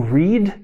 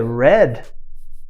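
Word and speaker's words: read: a mesma palavra escrito da mesma forma é pronunciada de formas diferentes se for no presente ao verbo Reed se for no passado é Red Exatamente isso acontece em português também por exemplo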